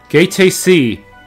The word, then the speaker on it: Gaete Sea: Gaete Sea. That's how you pronounce it.